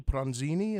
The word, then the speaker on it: Pronzini: Well, the other thing I find most interesting is that you work with your husband and fellow collaborator, Bill Pronzini. Is that correct, the pronunciation That's of the name?